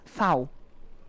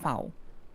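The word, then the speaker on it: Vau: core by newon oh V is f in German really yeah F pronouns it's fou the letter is fou oh okay that's how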